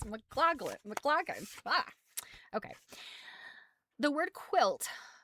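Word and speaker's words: Maclagan: His last name is spelled M A C L A G-N. I want to say it's Mccclaclin, but I don't think that is it. It's McLaclin.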